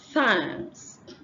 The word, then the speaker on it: thanks: is a consonant sound so we have thanks not than it's not it don't exchange it for a t don't say thanks thanks this sound for you to pronounce this sound correctly you must have your tongue in between your teeth so it's THS and